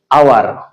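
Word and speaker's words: hour: একটি শব্দ রয়েছে আওয়ার, আমি যদি এই অক্ষরটি বাদ দেই তাহলে এটার উচ্চারণ হয় আওয়ার। তার মানে দেখেন এইচ এর উচ্চারণটা এখানে হচ্ছে না।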